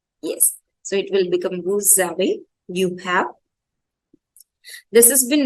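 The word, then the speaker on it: vous avez: So this woos aways will become woo zawe. Yes, this S will get transferred over here to the next word and the first will be pronounced partly, that will be woo only, and the last letter will join the second word, that will become zawe.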